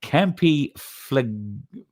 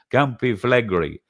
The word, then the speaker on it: Campi Flegrei: And then Campi Flegrei, I think is how you say it. Campi Flegrei.